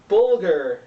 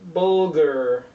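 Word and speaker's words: bulgur: Dudu Bulghur. Sounds kind of vulgar, but it's not.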